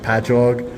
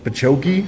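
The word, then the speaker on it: Patchogue: Island and the uh the cities that we have it will be like patchog and they'll be like pachokei and I'm like no it's it's just ingrained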